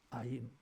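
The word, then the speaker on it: עין: 아인. 영어로 말하면 Y로 시작해요, 이게. 근데 보잘것없지 아니하냐, 이거 발음도 아인이에요, 이게.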